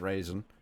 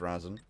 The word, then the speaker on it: Raisin: Not pronounced Razin. I thought it was Razin. It's Raisin. Other than that, everyone more or less has very straightforward names. Nobody has any trolly ones. Raisin. Like raisin mistakes.